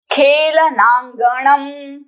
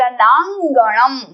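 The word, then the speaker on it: खेलनाङ्गणम्: सुविक्रमः having a great velar he is brave खेलनांगणम this is नॉट the there is a small dot a small तिल that is called अंग so this is अंग खेल खेलनांगणम खेलनांगणम खेलनांगणम खेलनांगणम next is वज्रकायताम strong body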